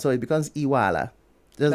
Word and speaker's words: Iweala: So Akunyili, that's the pronunciation. And it's Iwala.